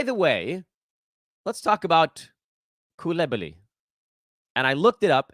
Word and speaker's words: Coulibaly: So it actually Coulibaly. Bilal Coulibaly is the correct pronunciation of his last name.